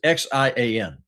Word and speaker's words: Xi'an: So, it it says no, it says X I A N.